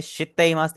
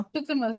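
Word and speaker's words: しています: शितमस stay शित्तेइमास, state शिस्टेमस। Exactly timer. शित्तेइमास। शितमस ठीक है, आपने शितमस शित्तेइमास नहीं बोलना, जो बीच वाला ई है वो हमारा साइलेंट हो जाएगा बिल्कुल।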